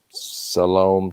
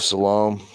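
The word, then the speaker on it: Siloam: also i don't know i think it pronounced it s-i-l-o-a-m salome tunnel that's the hebrew and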